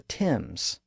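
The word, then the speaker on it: Thames: the English River the Tims of course it's spelled th a m s even though it's pronounced with a simple T sound the word word has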